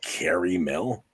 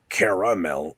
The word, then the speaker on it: caramel: He's Wait, he says caramel? It's like most people say caramel or caramel, not caramel. What the heck is that? Just look at how it's spelled. It is clearly 3 syllables.